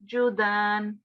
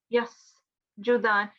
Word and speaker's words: يسجدان: Yeah, make sure that it's not a sh sound, it's not sheen, it's seen. So it's yasjudan, yasjudan.